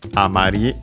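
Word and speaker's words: あまり: Amari, the accent on the physical dictionary. Okay, yeah. No, simply seems on the final syllable, but yeah, honestly it wouldn't change either way in this case. Because when we don't add anything else, words accented on the last syllable are the same, pronounced the same way as unaccented words.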